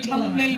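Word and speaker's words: thumbnail: হ্যাঁ, বি একটা আছে, সেটা উজ্জ্বল, THUMB, এই বিটা হচ্ছে সাইলেন্ট বি। হ্যাঁ, বানানে আছে, উচ্চারণে নাই, এই কারণে থাম্বনেল বলা হয়।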